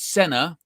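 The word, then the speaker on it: Senne: think he's credible this so it's senna emphasis on the first syllable sen so senna and he's saying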